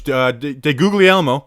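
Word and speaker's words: DeGuglielmo: be in the rotating tackle it's coach guz de googly elmo who which is how you pronounce it by the way i found out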